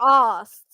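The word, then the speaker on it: arsed: I I can't be asked oh there you go I can't be you can't be asked you can't be H can't be a r s e d but you don't really pronounce the a I can't be asked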